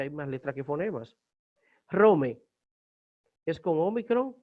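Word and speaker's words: Ῥώμη: Entonces, Rome, Ro, omega, mi eta es Rome, que es la ciudad de Roma.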